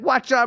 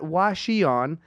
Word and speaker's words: Hwacheon: how to say this not Washi on it's like having a watch and having it on is what they taught me so let's all